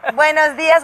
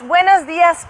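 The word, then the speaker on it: buenos días: Is it buenos dia or buenos dias? It's buenos dias plural.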